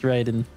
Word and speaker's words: Raiden: been shelved so Priceless it is definitely pronounced Raiden I analyze the video